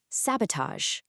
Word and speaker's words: sabotage: Sabotage. Make sure that first A is open and super clear, sab.